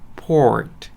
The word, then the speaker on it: port: 그냥 우리 커피포트처럼 포트 하셔도 되지만 중간에 알 발음 좀만 넣어주시면 돼요. port 하고요.